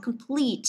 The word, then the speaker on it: complete: Chúng ta có complete âm thứ hai này.